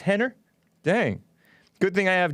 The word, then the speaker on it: Rener: Rener. How do you say it? Henner? Even though it has an R at it? It's pronounced Henner?